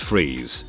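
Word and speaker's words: Fries: to most Mr Freeze Dr Victor FR pronounced freeze was an accomplished cryogenesis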